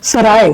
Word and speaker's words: सराय: इसका हिंदी जब हम प्रोनाउंसिएशन करते हैं तो उसे कहते हैं सराय।